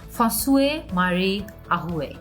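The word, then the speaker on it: François-Marie Arouet: তার ফুল নেমের উচ্চারণটা আমি ভুলও যদি বলে থাকি, আমি এক সেকেন্ড একটু চেক করে নেই যে ওনার কারেক্ট প্রনাউন্সিয়েশনটা কি। ওকে, সো আমি তার নামের প্রনাউন্সিয়েশনটা চেক করেছি, বেশ কঠিন। ফসুয়ে মারি আহুয়ে, এভাবে ওনার নামটা উচ্চারণ করা হয়ে থাকে।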